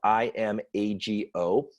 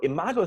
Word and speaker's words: imago: business world is a process called imago and it's spelled IM AG o in a model is from imago therapy it's